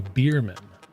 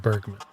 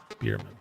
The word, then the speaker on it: Beerman: Judy Beerman. Not Bergman. Beerman.